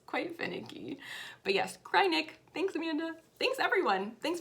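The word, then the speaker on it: Kreinik: how to remember it it's cryinic because when you use it it makes you want to cry so if you want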